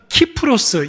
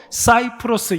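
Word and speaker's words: キプロス: 큰 섬이 바로 구호입니다 오늘날의 지명으로는 키프로스 이렇게 발음하기도 하고 사이프로스 이렇게 발음하기도 합니다 키프로스 공화국이 바로 성경에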